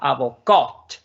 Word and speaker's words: avocat: ¿Dónde estoy haciendo la pronunciación? ¿Dónde estoy marcando? La última sílaba, avocat.